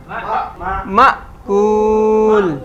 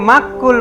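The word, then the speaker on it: مأكول: হ্যাঁ, আলিফের উপর সাকিন, এই যে আলিফের উপর যখন সাকিন থাকে তখন এটা দম আটকে যাওয়ার মতো উচ্চারণ হয়। মিম হামজা জবর মা, মা কুল। আবার অনেকে মাক্কুল বলে, মাক্কুল, মাক্কুল না, মাকুল।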